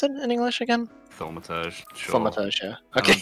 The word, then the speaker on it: Thaumaturge: Like, how do you pronounce it in English again? Thaumaturge, sure.